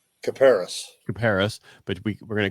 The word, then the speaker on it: Kuperus: Caparis.